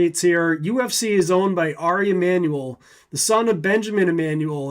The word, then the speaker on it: Ari Emanuel: But, I guess his name is probably pronounced Ari Emanuel, because it's Jewish, not Mexican.